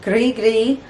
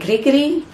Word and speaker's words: Grigri: is a cajun and grigri has a very different meaning than it does in this case um it's actually spelled a little bit different but it's pronounced the same gris gris and that